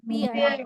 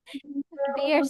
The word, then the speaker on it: bear: বিয়ার sound করো, কিন্তু আজকে কি জানলা? ই এ সাউন্ডটা তোমার কি হবে? এই সাউন্ড হবে। That means you need to সে বেয়ার। কি বলতে হবে? বেয়ার, নট বিয়ার, Bear.